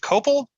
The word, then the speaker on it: copal: Is it Copal? Right? Yeah. Am I pronouncing that right? Yep.